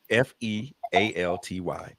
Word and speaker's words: fealty: It is spelled Fealty. Okay, like realty. Yep. Okay, fealty.